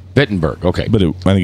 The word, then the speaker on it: Wittenberg: was Wittenberg castle it's fitten burg bitten Burke okay but i think it's written with w i think it is too I think so too pronounced with a V yeah it's what the